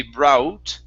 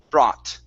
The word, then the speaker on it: brought: thing like thought okay we don't want to add an u sound so it won't be brought okay it's only an ah bra brought right great great job okay